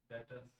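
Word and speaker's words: debtors: हां डेटर्स इसका B silent होता है।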